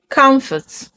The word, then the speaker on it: comfort: The O makes the sound uh. Uh. Uh. So, you don't say stomach. You say stomach. Stomach. Money. Money. Comfort. Comfort. Onion.